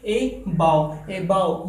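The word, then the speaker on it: above: ए बाव। यहाँ पर इसका प्रोनाउंसिएशन आप लोग कभी गलत ना करें। इसका प्रोनाउंसिएशन, करेक्ट प्रोनाउंसिएशन क्या है? ए बाव, यानी कि ऊपर की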